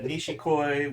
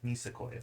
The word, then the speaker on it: Nisekoi: Yeah, Nishikoi, which is a Nisakoi? Is that how you pronounce it? There's no H. Okay. Sorry. I'm sorry. Say it. Nisakoi. Nisekoi.